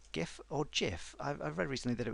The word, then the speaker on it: GIF: I've read recently that it was meant to be pronounced GIF rather than GIF, which I find really odd, as the G stands for graphics, which is a hard G.